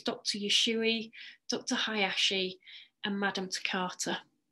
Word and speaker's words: Usui: so I want you to start learning the pronunciation of these so it's Dr yesui Dr Hayashi and Madame TARTA and it was